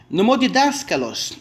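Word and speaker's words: νομοδιδάσκαλος: Nomodidáskalos. Olha, nomodidáskalos, nome comprido. Nós temos 1, 2, 3, 4, 5, 6 sílabas, tá? Olha o acento, não passa da 3ª sílaba.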